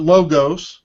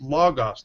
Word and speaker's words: Logos: mostly a logos user not logos by the way logos it's pronounced logos there's no Omega in the word and so please correct